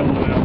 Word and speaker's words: Kauai: She did finally find her home underneath the Kouai volcano.